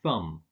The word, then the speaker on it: thumb: Bom ur climb and thumb so although there's a B in the spelling you don't pronounce it similarly with words like